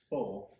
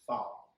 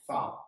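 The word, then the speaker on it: phở: Full, but it's I guess the proper pronunciation is foul.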